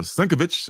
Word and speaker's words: Sienkiewicz: This is Bill Sienkiewicz, or Sienkiewicz, if I heard it pronounced that way a couple of times too.